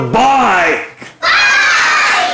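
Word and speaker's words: bike: لكن لو حطيت الماجيك E اقول بايك. اهو الماجيك E بتروح للفاول تقول له ايه؟ انا هنطقك زي اسمك. وانا في الاخر سايلنت. ما حدش ينطقني.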